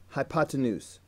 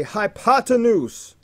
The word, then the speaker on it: hypotenuse: hypotenuse look at it look at how it's spelled hi ha 10 whose hypotenuse you can do it next time you're called on proudly boldly say hypotenuse I believe in you